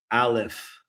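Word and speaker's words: ألف: Alif. Yes. So again, when we say alif, Alif. alif. So Alif. we're trying to avoid saying like an R sound, like Alif.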